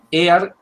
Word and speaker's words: Ayer: Por las dudas, Ear, el que yo estoy mencionando como Alfred Ear, se escribe ayer, ¿no?